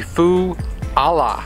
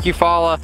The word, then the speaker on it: Eufaula: special water I believe it is like a Foo Allah I believe it's like a Hawaiian thing and